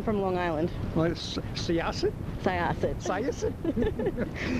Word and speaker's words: Syosset: Syosset. Or as Matt calls it, Sosit.